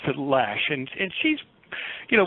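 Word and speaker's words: Loesch: Yeah, they they pronounce it Lash.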